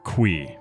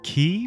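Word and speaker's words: Qi: Qui. I've always referred to him as Mr. Key, but in his podcast with Bobby Lee, Eric Baron, Mr. concerned ape himself confirmed that he pronounces it qui.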